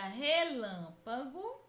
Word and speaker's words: relâmpago: Percebam que a sílaba que mais demora a ser pronunciada é lã.